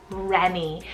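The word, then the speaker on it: Rennie: absolutely anyone is the name Remy spell r-e-n-n-i-e Renny and this one is a Scottish French and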